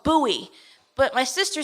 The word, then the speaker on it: Bowie: It's a state, and the city we're moving to is called Bowie. But my sister said it's spelled like Bowie, like David Bowie, but it's pronounced Bowie.